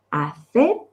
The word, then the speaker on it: hacer: Ojo, he dicho hacer, pronuncio la C para que me diferenciéis.